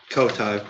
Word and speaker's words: Cody: Co-tie, but yes, Co-tie.